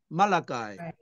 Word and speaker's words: Malachi: Zephaniah, Zephaniah, 그다음에 하나야, 학계를 해가이라고 읽어요. 해가이. Haggai, 그럼 스가랴스를 스가라야. 스크라야, Zechariah, 그다음에 Zechariah, 말라기를 말라카이.